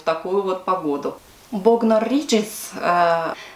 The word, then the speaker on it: Regis: Но правильнее все-таки называть Regis, если сравнивать с написанием и произношением улицы Regent Street.